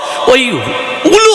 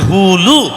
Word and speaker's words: উলু: ব্যাকরণও বলে সপ্তবিধান ঠিক তদ্র ওলু হবে না উচ্চারণটা হবে হুলু আচ্ছা মায়েরা যদি হুর